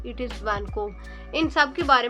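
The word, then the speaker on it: Vancouver: हमारे पास आर एंड पे जो है वो silent it इज़ नॉट वैनकोवर इट इज़ वैनकोब इन सबके बारे में थोड़ी बहुत बात कर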